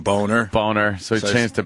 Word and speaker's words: Boehner: house we have Boehner I like how he pronounces his name boner it's boner it is boner it's I just look